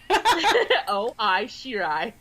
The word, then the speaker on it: Shirai: Pronounce it for me, Ebony. Shirai.